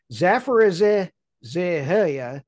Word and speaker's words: Zaporizhzhia: It is Zaporizhzhia.